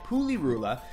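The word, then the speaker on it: Pulirula: it's rule of yeah it's a poo or it's Puli Rula like PU Li are you la Puli Rula it was done it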